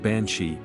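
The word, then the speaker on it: bean sí: comes from the old Irish term Bean City pronounced bansi meaning woman of the fairy Mound or fairy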